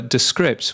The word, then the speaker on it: Descript: Talking about AI, as we were earlier, Descripts, or rather Descripts, which is the correct way of pronouncing them, they have been adding more AI tools, haven't they?